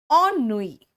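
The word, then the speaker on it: ennui: Next आओ बेटा, ई एन है लेकिन इसको ऑन कहते हैं, ठीक है। ई एन को यहां पर प्रोनाउंसिएशन ऑन होगा। ऑन नुई, ऑन नुई का मतलब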